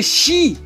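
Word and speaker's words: sìth: Sit nos dice que el término Sit se pronuncia realmente shi que significa en escocés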